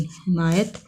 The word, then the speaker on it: حمایت: حمایت، ایک کے نیچے زیر میم زبر اور یہ زبر اور تے ساکن، حمایت۔ یہ لفظ کیا ہے؟